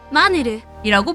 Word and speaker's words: 마늘: 더 놀라운 사실은이 빵을 마늘의 일본식 발음인 니니 그빵이 아니라 한국어 발음처럼 마늘이라고 부른다는 것입니다 일본에서 유행하게 된 한국